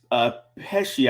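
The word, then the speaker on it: Pesce: Nicholas Pesci, I believe is how you say it.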